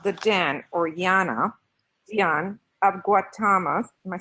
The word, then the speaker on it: Gautama: portions of the Dan or Jana young of Guatemala physics grant I think I want to correct this facilities and other mispronunciations its Gautama BAU is invested the personal name of the